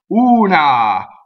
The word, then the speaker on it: una: the first word is una una so who is always ooh and AH is always ah so the first thing